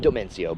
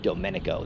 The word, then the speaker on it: Domenico: on the pronunciation uh his name is domenico not domencio but domenico that was my flub